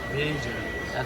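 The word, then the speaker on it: Vieja: How would you pronounce that, Nathan? Vija.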